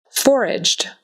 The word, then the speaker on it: foraged: Um, actually both of those have a G that sounds like J. Foraged. And um, garbage. But that's not on here. Anyway, foraged. Foraged. That E on the end is really just a D sound.